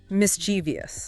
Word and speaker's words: mischievous: But it's actually only three. Three. Okay. How does that work? It's mischievous. Stress on the first syllable.